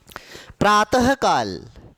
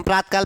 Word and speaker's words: प्रातः: प्रातः काल, हम प्रातकाल प्रातकाल बोलते, प्रातकाल नहीं होता, प्रातः ह लगाना है।